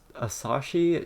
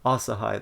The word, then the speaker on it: Asahi: the for the uh asashi shen boon magazines like ash asahi asahi that's how you say it asahi journal popeye